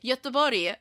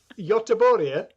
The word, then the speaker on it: Göteborg: But should it be Gothenburg or something? Göteborg. Whoa. Nope. Not acceptable. Göteborg? Yeah, that's pretty good pronunciation.